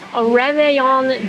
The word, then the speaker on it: Réveillon: But y'all have this Réveillon dinner.